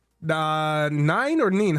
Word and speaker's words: Nin: Your your name is spelled n i n. You want to be called nin or nine?